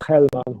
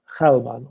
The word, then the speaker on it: Gelman: And she's a politician today in Uruguay, Macarena Gelman, or Gelman. With how you pronounce in the United States, you say Gelman.